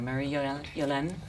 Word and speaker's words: Marie-Yolaine: Marie-Yolaine? Thank you for pronouncing my name correctly.